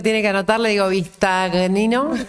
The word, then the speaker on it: Bistagnino: ¿Cuántas veces te preguntaron cómo se pronuncia tu apellido? Cuando alguien lo tiene que anotar le digo Vistagnino, y si no es Vistagnino.